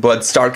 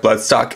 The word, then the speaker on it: Blood Stark: for those wondering why I'm calling him Bloodstark instead of Bloodstock and might not have seen my previous videos, that's because the way his name is spelled instead in Japanese more lines up with the name Stark rather than Stock, which has a completely different pronunciation.